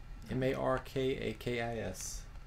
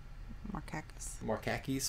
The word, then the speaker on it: Markakis: I guess that's how you pronounce his name. Kiki, how would you say this guy's name? M-A-R-K-A-K-I-S. Markakis.